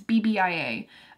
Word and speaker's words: BBIA: from Bieber it's definitely that's not how you say it's not Bieber it's bbia um and this is